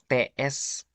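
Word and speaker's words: цвет: Kalau sweat tanpa T depannya SVET doang, itu artinya cahaya, beda lagi. Kalau TSVET itu sweat baru warna artinya.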